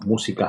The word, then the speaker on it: música: Desde aquí, no, música has an accent on the U.